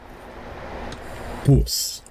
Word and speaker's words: bws: out of the English it's the spelling of the word word bus it's spelled bws in Wales bus that is just taking